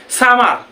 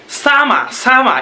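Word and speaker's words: summer: আমরা বলি কি সামার, এটা কি হবে সামা সামা, এরকম অনেক প্রোনাউন্সিয়েশন।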